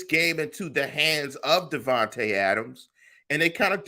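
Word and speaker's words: Davante: I'm messing up names it's Devonte not Deontay uh hey man I'm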